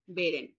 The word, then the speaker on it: Beeren: Wound ইউলিয়া ইয়োহানিস বেরেন। Beren. ব্যাপারটা বেরেন হবে তো? না বিরেন হবে? না, বেরেন বেরেন। ই না তো, এটা এ না আপু? এ, হ্যাঁ হ্যাঁ, হ্যাঁ, সবসময় বেরেন। এ উচ্চারণ হবে।